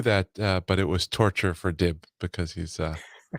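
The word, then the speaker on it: Tortue: cool stuff they had a tortu uh Cartier tortu oh really I'm pronouncing that right yeah yeah yeah yeah which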